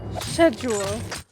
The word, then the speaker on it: schedule: Schedule. Yeah, why do they say it like that? It's the second time, right? Did you know that that's how they say it in the UK?